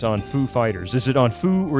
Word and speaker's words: Foo Fighters: You just have to put in a random pause, then emphasize the next syllable. Exactly! I mean, he knew exactly what he was doing. It's the Foo Fighters. Yeah. Join me in welcoming Foo Fighters.